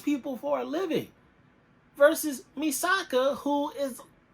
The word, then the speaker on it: Misaka: characters we have um I always want to call her mi casa but it's misaka From a Certain Magical Index